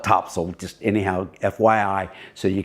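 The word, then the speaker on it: Topsail: And if anybody is goes up to the beach north of us, Topsel, if you call it Topsel, you don't call it Topsale. It's spelled Topsale, but we call it Topsel.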